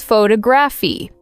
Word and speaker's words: photography: For example, photograph versus photography. The stress changes depending on the form of the word.